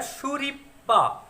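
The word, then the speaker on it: スリッパ: कोशिश कीजिए थोड़ा सा, इसका प्रोनाउंसिएशन हो जाएगा शुरिपा, शुरिपा, ना कि शुरिपा। तो प्रोनाउंसिएशन क्या है, शुरिपा। हमको पी जो है ना, ये जो कॉन्सोनेंट है उसको 2 बार प्रोनाउंस करना है एक ही साथ में, शुरिपा।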